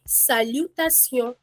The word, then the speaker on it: salutation: Okay, the t i o n, we pronounce it as sion. sion Okay, ma'am. Okay, the pronunciation t i o n is actually see on in French.